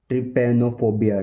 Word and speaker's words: trypanophobia: इसको बोलेंगे English professional language में ट्रिपेनोफोबिया, ट्रिपेनोफोबिया, ट्रिपेनोफोबिया, ट्रिपेनोफोबिया, ट्रिपेनोफोबिया, ट्रिपेनोफोबिया, ट्रिपेनोफोबिया, ट्रिपेनोफोबिया, ट्रिपेनोफोबिया।